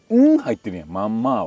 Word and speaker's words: ママー: Tuy nhiên, người Nhật phát âm nó là "MAMA-". mì Ý "MAMA-". Tôi luôn phát âm nó là "MANNMA-".